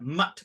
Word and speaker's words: Math: It's spelled like math, but Mutt means monastery.